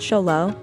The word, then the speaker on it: Xolo: mexican hairless or simply the zolo pronounced cholo for short is among